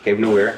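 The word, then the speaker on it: Cave Noire: Cave Noir. Cave Nowhere. I finished that. Nowhere. Cave Nowhere.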